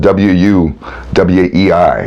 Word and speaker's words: Wu Wei: It's spelled W-U-W-E-I, Wu Wei.